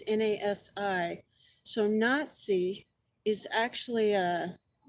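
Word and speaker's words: נשיא: Well, just so you know, if you don't already, the Jewish high priest for Judaism is called a Nazi, not Nasi. I don't know how it's pronounced. It's Nasi.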